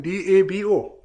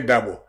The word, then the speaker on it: Dabo: My late brother, Seni Dabo. Okay. Musa Dabo. All those Musa Dabo, the politician. Oh yes, they all D-A-B-O is a standard. It's a standard and is phonetically well founded.